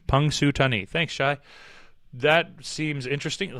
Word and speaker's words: Punxsutawney: Pronounced Punxsutawney. Punxsutawney.